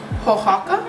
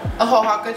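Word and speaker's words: Oaxaca: say this wrong but to me it's pronounced hohaka yup ahohaka cheese and i think it starts with the oh so you just add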